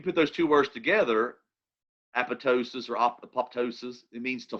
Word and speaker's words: apoptosis: also pronounce it um apoptosis apoptosis there's different ways you can pronounce it and really the debate is do you or do you not pronounce the second p okay that's what it's